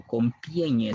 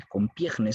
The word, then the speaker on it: Compiègne: Se va a firmar el armisticio de Compiègne, o Compiègne, perdón, o Compiègne se pronuncia, y Compiègne se dice, el armisticio de Compiègne.